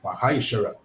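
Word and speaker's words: ma'aser: You can find this in the book of numbers chapter 18 and verse 21 and Malachi 3:8-10 means 10 in the Hebrew and is pronounced Mahisher.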